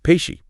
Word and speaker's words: Kpeshie: a place called uh pishi and yeah you heard that right it's pesi not payi ah I see what